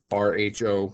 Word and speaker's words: rho: Again, it is rho, and again, that is pronounced R-H-O, rho, or R-O-W.